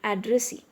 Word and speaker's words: addressee: Now look at another word, addressee. Here also the stress is on the last syllable, that is S-E-E-C.